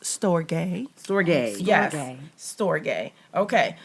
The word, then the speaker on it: storge: So the last one, it's actually pronounced storge.